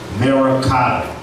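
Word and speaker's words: मरकत: And in Sanskrit, emerald is pronounced Merakata.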